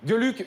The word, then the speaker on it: Geluck: D'ailleurs, est-ce qu'on dit Gueluc ou Gueluc? Gueux. Gueluc. Gueux, D'accord. on le prononce à l'allemande comme Gestapo.